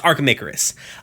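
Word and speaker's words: Archimicarus: archamacaris that's it that's it i could not pronounce it i do know not know why um yeah it's archamicarus uh as she uh as she goes on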